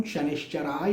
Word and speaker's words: शनैश्चराय: मैं कहता हूँ देखिए, शास्त्रों के अनुसार जो शास्त्रोक्त प्रोनाउंसिएशन है वो यही है, ओम शं शनिश्चराय नमः।